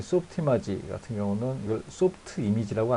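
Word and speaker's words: Softimage: 어쨌든 히스토리 중에 하나니까 소프트 이마지라고 합니다. 저는 왜냐하면 캐나다에 있는 그 프렌치 쪽 계열 있죠. 그쪽 계열 사람들이 모여있는 디벨롭 부서에서 만들었기 때문에 그 회사에서 만들었기 때문에 이거 소프트 이마지라고 합니다. 그쪽 발음대로.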